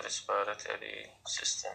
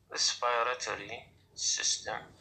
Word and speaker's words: respiratory system: Now we will take the terms of the respiratory system or respiratory tract. respiratory system. هنا أنا بقوسين خلي لك حتى الصوت عشان تلفظ كلمة respiratory system.